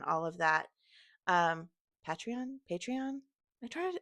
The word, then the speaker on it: Patreon: Um, Patreon, Patreon. I try I t typically say Patreon like patronage.